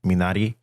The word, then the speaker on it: minari: and i i do i it actually is pronounced minari all right sorry so like yeah it's it's